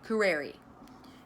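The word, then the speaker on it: curare: in the rainforest this is called poo rarey kerreri it's spelled see you are a r-e kerreri comes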